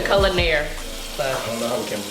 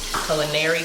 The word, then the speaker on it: Culinaire: say it like enunciated because people say culinary club like they rely on the hands but it's like billionaire that's the easiest way to explain I feel like I gotta